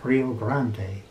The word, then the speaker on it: Rio Grande: a spanish name rio rio grande in spanish would be pronounced rio grande and it means big